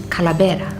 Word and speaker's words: Kalabera: here at this site we find ourselves at Cala betta which is the pronunciation in tomorrow but that particular word comes